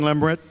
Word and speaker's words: Lemert: is the son of Randy and Sharon Lemert. I finally said it right after all these years.